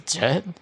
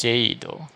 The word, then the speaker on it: Jade: Like I always thought her name was Jet, but in the Japanese voice, she's actually pronounced Jade, which I think is um, a much more like feminine sounding name, Jade, right?